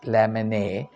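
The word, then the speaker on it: Lamennais: l a m n n a i s lamon because of the French word the last days is not pronounced the title of the book Words of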